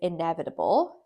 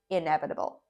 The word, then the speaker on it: inevitable: And the last on this side is inevitable. The way you pronounce this is inevitable.